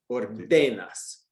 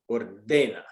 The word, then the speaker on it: ordena: So it should be ordeno, ordenas, ordena, right?